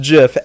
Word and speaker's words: GIF: original the original Creator the original creator said it was pronounced Jif and if you use